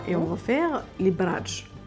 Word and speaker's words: bradj: Alors ma chérie, on va aller en Algérie encore une fois et on va faire les bradj. Les bradj. Exactement, Bradj. tu le prononces très très bien.